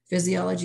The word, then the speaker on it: physiology: an f word physiology even though it's spelled with the ph it sounds like an f so that's an f word physiology is the function of